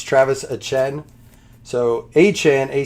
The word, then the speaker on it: Etienne: You just pronounce it Etienne. It's not ETN, it's Travis Etienne.